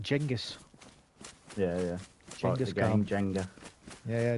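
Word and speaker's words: Genghis: going with g well genas KH is actually pronounced jengus yeah yeah Jenga yeah yeah jingus car and Julius Caesar is pronounced Julius Kaiser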